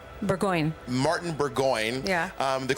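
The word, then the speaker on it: Burgoyne: Um in that song you named uh you name checked your then roommate Martin pronounce it for me Martin Burggon Burggoyne.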